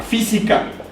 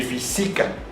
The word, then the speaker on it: física: Otro ejemplo sería la palabra física. No podemos decir física ni física. Decimos física. El sonido fonético está en la antepenúltima sílaba.